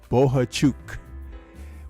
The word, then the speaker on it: Bohachuk: this one Ortiz versus bohachuk we have been corrected on the pronunciation of sir's name he says it's chuk so boha chuk is defending this weekend